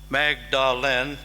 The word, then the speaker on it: Magdalen: at Magdalen College, Oxford, spelled Magdalen, but pronounced Magdalen.